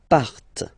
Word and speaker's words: partent: Il, elle, partent. Remember, classic ending, ENT, but then you don't pronounce them.